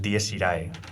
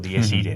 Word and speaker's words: Dies Irae: Pues, y es Dies Irae, o Dies Ire, ¿no? Según la pronunciación que uno quiera no he tenido el gusto de verla.